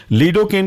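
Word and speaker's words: lidocaine: हम लिग्नोकेन के नाम से भी जानते हैं लीडोकेन की स्पेलिंग है ludo L आई डी ओ और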